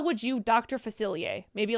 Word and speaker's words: Facilier: The missing word was pronounce. It's Dr. Facilier.